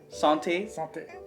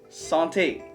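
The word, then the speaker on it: santé: something salty am i saying that right yeah sante sante hey coconut with chocolate wow that's good yeah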